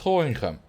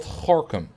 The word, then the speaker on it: Gorinchem: But still, it should be pronounced Gorinchem, not Gorkum.